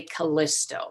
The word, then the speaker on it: Callisto: And her name is Callisto. In English, sometimes people say Callisto. So I'll try and say both the English and the Greek pronunciation just so that you know what it's supposed to sound like.